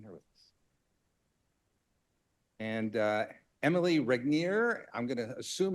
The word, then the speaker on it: Regnier: And Emilie Regnier, I'm going to assume it's pronounced that way but if I were French, I would say Regnier.